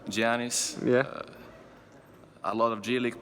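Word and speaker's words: Giannis: I remember like kyle korver matthew dellavedova I pronounced it right Gianni's yeah a lot of j-league players your league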